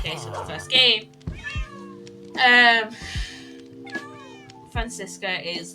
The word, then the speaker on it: Franziska: How do you say her name? It's like a weird spelling of the name. Francisca. It's like Franziska.